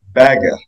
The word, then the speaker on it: Bagge: Well, Bach, who I renamed because his Swedish name is pronounced Bagge.